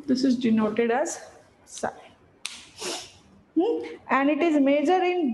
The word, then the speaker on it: psi: And this is, it is represented by Greek letter called as psi, P-S-Y. P is silent over here. This is denoted as psi.